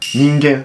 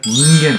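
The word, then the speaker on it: 人間: Non, mais la prononciation que tu as fait, tu y es presque. Ingan. Ningen. Ningen.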